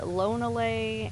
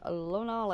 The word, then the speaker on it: Lonalé: much easier to pronounce. Um, possibly. I've heard people still say Lonlay and um, God, what was the other one that I was hearing all the time?